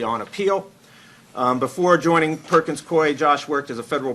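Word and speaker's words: Perkins Coie: mess that up but I know how to pronounce Perkins Koy uh Josh's work focuses on voting rights litigation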